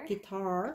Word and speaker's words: guitar: And he loves to play his guitar, which is a guitar. The southern accent guitar, a little different stress on the first syllable.